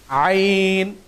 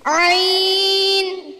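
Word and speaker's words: ع: এখানে পর হরফটি দেওয়া আছে আইন। আমরা অনেকে এটাকে আইন বলি, এটার নাম কিন্তু আইন না, বরং হরফটার নাম হচ্ছে আইন। এই হরফটির উচ্চারণ কোথা থেকে আমরা জানি না। এই হরফটির উচ্চারণ হয় হলকের মাঝামাঝি জায়গা থেকে।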